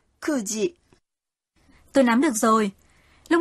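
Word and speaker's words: 九時: 9 giờ không đọc là kyuji mà đọc là kuji.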